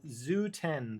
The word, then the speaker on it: XU10: Hey fam, Pick here, and it's time to unbox the Zoo 10, the winner of episode 4's Wheel of Review. So, yeah, it is pronounced Zoo officially from what I have heard.